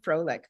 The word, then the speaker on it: Frolik: just usually pronounce it Frolic in English yeah it's close to that you know the word that actually exists in English which I really like